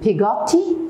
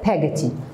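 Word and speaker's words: Peggotty: with his mother and pagaty by the way you can say pigatti and pagati both are correct in the names you know we can pronounce it the way whatever we want the third point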